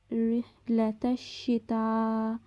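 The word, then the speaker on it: رِحْلَةَ الشِّتَاءِ: রিহলাতাশ শিতা, এখানে তায়ের উপরে বড় মাদ আছে, যেটিকে আমরা ৪ আলিফ পরিমাণ টেনে পড়ব।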